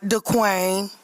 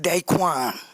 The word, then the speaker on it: Dequante: Not Dequain, but Dequante.